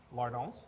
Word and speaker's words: lardons: And then once we're at 90%, what we're gonna do is we're gonna be adding the lardons. The lardons? Lardons. Spell it.